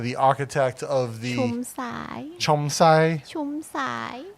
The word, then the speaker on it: Jumsai: Sumit Jumsai, the architect of the Chomsai. Chomsai. In English, it's spelled with a J, nah?